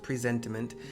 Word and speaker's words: presentiment: That is how it's pronounced, presentiment.